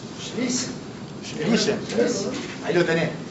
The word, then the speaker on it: Schlesien: Glauco, ¿cómo se pronuncia? Schlesien. Ahí lo tenés. Schlesien.